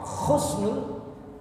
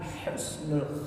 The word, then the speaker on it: Husnul: meninggal dalam keadaan baik Jangan sampai salah dalam penyebutan ya k Khusnul dengan Husnul Khatimah itu beda sudah ya alwasilah dengan